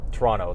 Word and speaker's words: Toronto: Toronto, that's how you actually say it. Just like you guys say we pronounce Mazda wrong.